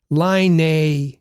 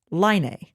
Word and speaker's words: Laine: So you've heard us say Patrick Laine a number of times. And Jim says, hey, it's pronounced Laine.